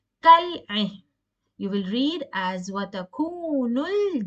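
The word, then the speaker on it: كالعين: In this case, when there is a Kamariya letter, you will pronounce the lam. Kal-ain.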